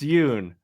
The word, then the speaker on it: Yun: heard of me it's Yun rhymes with moon and when I use